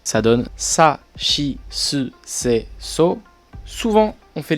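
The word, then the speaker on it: ち: prononce différemment c'est le chi donc le chi c'est sûrement parce que les japonais n'arrivent pas à le prononcer et du coup bah il se prononce comme en français comme dans le mot chat sauf que vous verrez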